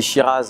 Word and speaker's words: Shiraz: ci ra bien sûr on dit shiraz en australie c'est la prononciation du nom du cépage mais souvent derrière la